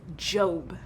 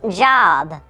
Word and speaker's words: Job: Today, we will be telling the story of Job. It's pronounced job. I'm pretty sure it's Job.